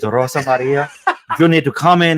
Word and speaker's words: Rosa Maria: kind of the M you don't say her name right Ros Mar Rosa Maria Ros Mar you need to listen to me it's Rosa Maria you need to come